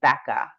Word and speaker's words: Bekah: spell your first name my first name is Becca it's spelled b e k a h and your last name